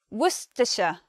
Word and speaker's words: Worcestershire: among English people and we say Worcestershire Worcestershire we try to say Worcestershire sauce Worcestershire sauce but because it's a bit of a mouthful that pronunciation there is a shorter way to say it which is which is just Worcester Worcester sauce next one Satsuki